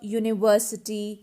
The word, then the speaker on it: university: have used article now let's look into the words that start with a vowel letter but the starting sound is of consonant now see these words a european uh university a one rupee note these all words start with a consonant sound these all words are starting with the consonant sound that is why we